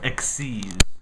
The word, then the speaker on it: Xyz: life anyway start basics this is an xyz monster xc is how it's pronounced i don't like it